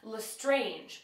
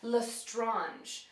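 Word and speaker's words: Lestrange: but her last name I always that was pronounced L strange but it's actually lrange so that one will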